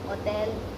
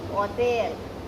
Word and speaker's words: hotel: For example, la fiesta es en Hotel Taj. I am saying hotel. I am not saying hotel. So you remember my last video in which I told you about H is silent.